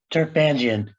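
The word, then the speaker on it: Turpanjian: It's Turpangian. It's an Armenian name. It's an Armenian name. We know how to pronounce that.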